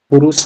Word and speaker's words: पुरुष: पुरुषा, कहीं पे पुरुष बोलते हैं इसको, है ना, प्रोनाउंसिएशन पुरुष बोलते हैं, कहीं पे पुरुषा भी बोलते हैं ना, तो पुरुष।